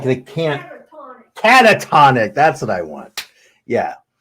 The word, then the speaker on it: catatonic: to put you in a you know completely katonic state katonic is that right is that the